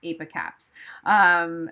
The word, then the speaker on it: ApiCaps: That's why they name them ApiCaps. So that's how you pronounce it.